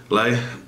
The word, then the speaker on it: Leigh: Dusty Lay, I think it's Lay. Is that how you say it? Lay, Leah, Lay, not Leah, of course not.